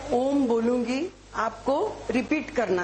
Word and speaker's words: ओम: Okay, अ उ म, दीर्घ सांस लेके आधा ओठ खोल के आपको अ का उच्चारण करना है और ओठ पाव इंच करके उ का उच्चार, ओठ बंद करके म का उच्चार करना है।